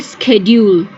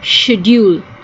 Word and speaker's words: schedule: The first one is when we use the C as a K, that would be schedule. Schedule. And the second one, we use it as a sh, as schedule.